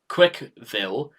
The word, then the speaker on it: CWCville: Quickville, pronounced Quickville, also stylized as Quickville, is an independent and self-governing city state in Northern Virginia, United States.